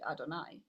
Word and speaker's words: Adonai: We pronounce it as Aleph Daled Nun Yud Adonai.